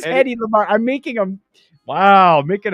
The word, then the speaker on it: Hedy Lamarr: It's Headley Lamarr. Headley. What'd I say? Headley. Oh, I'll put an L in there. No, it is Hedy Hedy Lamarr.